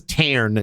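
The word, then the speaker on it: Tairn: name but he's like you can just call me tar it's not that's not the name but his name is tar t a i r n for the ENT ire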